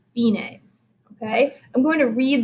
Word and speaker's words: fine: would expect dc alphine that looks like our english word for fine but this is actually an italian word and it's pronounced bine okay i'm going to